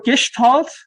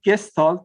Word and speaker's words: Gestalt: okay so again for gestalt i mean the english pronunciation is gestalt but the actual german